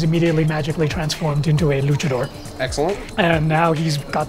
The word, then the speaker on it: luchador: Is it luchador or lucador? I believe it's luchador.